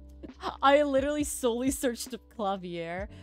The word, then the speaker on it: Klavier: It's so Klavier is how you say piano in German. That's the German word for piano, right?